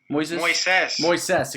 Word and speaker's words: Moises: So, UFC Vegas 31, Makhachev versus Moises. Is that how you say it? Moises.